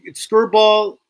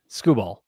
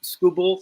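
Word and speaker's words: Skubal: So, it's Screw Ball and Skis are my two uh top top tier guys.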